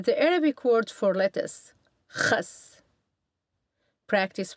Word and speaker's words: Khas: The letters KH represent the letter Kh, which is pronounced like the Kh in the German composer Bach's name. An example of this letter in context is the Arabic word for lettuce, Khas.